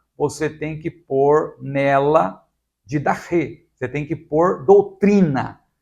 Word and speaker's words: didache: Por isso, é necessário incluir doutrina, didache, que nós também falamos didache, não é? A pronúncia mais próxima do grego seria didache.